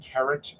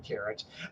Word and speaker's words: Keret: you would normally pr pronounce the second syllable or the last syllable heavier it's where the emphasis is so you have carrot